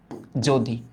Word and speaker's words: যদি: হ্যাঁ চিন্তা করো আমি দিলাম যদি, যদি, ওকে। প্রথমত এখানে অন্ত্যস্ত জ আছে, অন্ত্যস্ত জয়ের উচ্চারিত রূপ হয় না, বর্গীয় জ এর উচ্চারিত রূপ। তার মানে এটা উচ্চারণ করার টাইমে আমাদের উচ্চারিত রূপটা আসবে যদি।